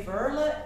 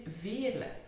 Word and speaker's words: Veerle: pronounce my name well the French they say ver and The American or English or Australian they say ver but in fact it's V so it's a typical flamish name it is V now something way more